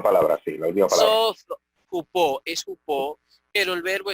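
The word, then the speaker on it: ὑπό: Jupó, es jupó, pero el verbo es sozo, ¿ok?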